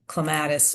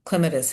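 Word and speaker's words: clematis: English ivy, Asian wisteria, a couple of varieties there, um Japanese honeysuckle and clatus or clemetus, however you want to pronounce it.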